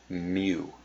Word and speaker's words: mu: mean of a population is usually denoted as Mu that's how this this Greek symbol is pronounced it's me it stands for the stands